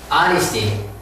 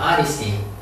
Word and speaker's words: honesty: Honesty. H를 발음하지 않습니다. Honesty.